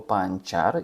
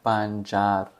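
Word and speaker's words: pancar: наприклад слово панчар і сказав що літера ц читається як ч мені підказали люди і сказали Женя ну ти що взагалі в турецькій мові це читається як Дж тому слово буде буряк панджар цим ми і з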